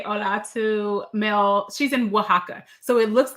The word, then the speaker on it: Oaxaca: pronounced Oaxaca. She put that Oaxaca. in the thing earlier. I've Thank never been to Oaxaca, you.